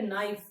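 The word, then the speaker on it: knife: letter P is silent P is silent but इट is there but we don't pronounce it इन the same way नाइफ के एन आई एफ ई नाइफ honest H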